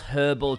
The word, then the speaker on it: herbal: out the good old herbal trap americans just don't like pronouncing that h even when they're trying to do a british accent they still say herbal like uh like they've